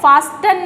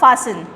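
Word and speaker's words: fasten: देखिए यहाँ पे क्या है, फास्टन नहीं पढ़ा जाएगा, क्या पढ़ा जाएगा, फासन।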